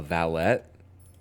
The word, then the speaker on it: valet: A car valet is a valet, but the guy like in Downtown Abbey is pronounced with a T. A valet.